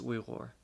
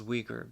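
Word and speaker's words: Uyghur: reasons first of all she's we some people pronounce it as Weger but we are the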